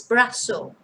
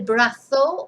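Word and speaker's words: brazo: spain or brothel but remember in south america if you learn south american spanish is brasso or brassos and in some parts of spain as well particularly in admire in nearby the murthy region uh they rarely use the they use a sir instead so either one is correct it's just a matter of accent el brato or el brasso and los bratos or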